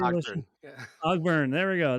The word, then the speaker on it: Ogburn: Ogburn.